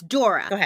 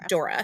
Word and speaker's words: Dore: It's Dora, not Dolores. No, Dora. Dora. Okay. Dora. And it's actually spelled D O R E, but it's German, so it's pronounced Dora.